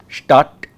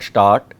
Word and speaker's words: Stadt: When we have a vowel followed by a double consonant, the vowel is short. Okay. Stadt, not start.